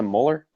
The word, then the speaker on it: Mueller: oh wait what this it was a molar yeah molar but I always said Mueller in the past because the way it's spelled anyway he's on there